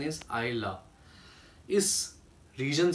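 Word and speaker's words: Islay: love which is written as ideal but the pronunciation is I love this region say aku one of the biggest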